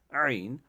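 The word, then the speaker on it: عين: ہا یعنی عین جو حلق کا بیچ والا حصہ، وہاں پہ انگلی رکھ کے ٹرائی کریے، پریکٹس کریے بار بار.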